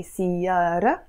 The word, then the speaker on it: سيارة: That's why I highlighted this T, because alone this word سيارة is silent, you see? It's silent. But the moment I attach this possessive ending to it, I'm gonna pronounce it. So we say سيارة, but we say سيارتك.